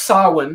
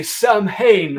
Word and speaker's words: Samhain: We know it's pronounced Samhain. Yes. Deal with it. It's more fun and silly to say Samhain.